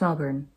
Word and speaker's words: Melbourne: It's pronounced Melbourne. Let me do it in the Australian. Melbourne.